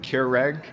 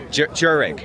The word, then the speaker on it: Kjerag: So we don't know how to pronounce it. I've always said Keurig, but I think it's actually Jereg.